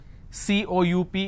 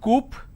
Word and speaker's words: coup: is government plurality determination derivatives apartment disagreement dislodge c-o-u-p is cool it's not Coop or cowp it's coup isolation quarantine gesture a lot of